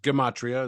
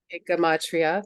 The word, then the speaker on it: gematria: to me something called Gematria which I had never yeah sometimes pronounced Gematria as well ichamatria thank you so would